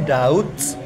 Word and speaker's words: doubt: D-O-U-B-T itu guys bacanya Dauds. Jangan ragu-ragu. B-nya memang nggak pernah dibaca. Dauds, ya, bukan dop apa dop.